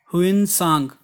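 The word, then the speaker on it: Hiuen Tsang: उसके बाद है, द चाइनीज़ ट्रेवलर ह्यून सांग, ये टी साइलेंट है, हु विजिटेड इंडिया एट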